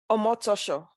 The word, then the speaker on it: Omotosho: Bukola, please pronounce it. How is it said? Omotosho. Omotosho.